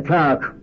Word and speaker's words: clerk: I said, he's a clerk. Now, I didn't know that in Chicago that word is pronounced clerk.